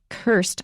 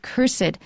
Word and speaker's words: cursed: about how to say cursed or cursed now both of them are possible when you put it in front of a noun we usually will put an extra syllable on it the cursed thing